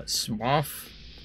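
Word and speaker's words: Smough: uh pronounce their names let's just settled with uh smoff because of hawkeye golf and the spelling is the same which seems like a fairly academic approach to figuring it out it's funny these guys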